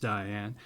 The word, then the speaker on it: Dian: There's no E at the end of that, so I'm assuming it's pronounced Diane.